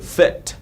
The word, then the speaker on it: fit: là âm y dài nhé, rất nhiều bạn đọc là keep fit. Đấy, cái này không phải feet, feet là chân rồi, đúng không? Đấy, chúng ta đọc rất là nhanh thôi, fit.